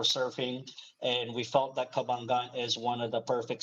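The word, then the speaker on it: Cabangan: we first moved in here it sounds like kabalyn but it's actually pronounced kabangan and um there is that feeling of of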